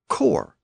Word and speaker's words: corps: words like corpse c r PS e and core c r PS both words are still spelled with an S but the pronunciation of the